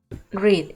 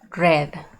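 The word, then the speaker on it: read: cambia es la pronunciación en el presente o de forma normal se lee grave y en pasado se lee red como el color así no lo olvidan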